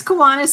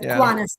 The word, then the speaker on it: Kiwanis: Actually, it's Kiwanis, and you said it right. So there's a lot of people that say Kiwanis, but Kiwanis is correct.